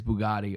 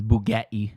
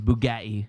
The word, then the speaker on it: Bugatti: pulled up in his bugatti or as he pronounces bugetti that's how he says it um he's not from